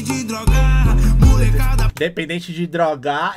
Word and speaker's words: droga: Dependente de drogar, ele colocou a sílaba tônica em drogar, tá ligado? É droga, a primeira sílaba tônica da palavra droga é dro, tá ligado?